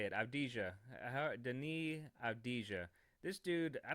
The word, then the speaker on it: Avdija: And then we had this dude, Adija. How do you say it? Avdija.